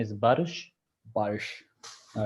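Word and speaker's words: Barış: not doing wrong uh it's a special letter actually in Turkish this the pronunciation is Bish Bish all right yeah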